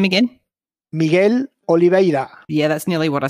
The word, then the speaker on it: Miguel Oliveira: on white can you say his name again miguel oliveira yeah that's nearly what i said continue just call calling michael olive yes michael exactly but look i have to